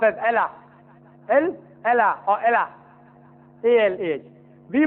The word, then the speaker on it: Allah: It's pronounced as Allah.